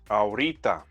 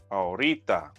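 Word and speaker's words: ahorita: that i taught you that means right now aurita aurita so how do you say come here right now venga aki orita venga so what happens if they stop short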